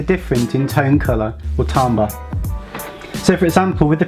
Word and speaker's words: timbre: This next musical element, pronounced timbre, is the tone colour of music.